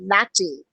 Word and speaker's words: LaTeX: It's spelled as latex, which is rubber, but no, it's pronounced as latte.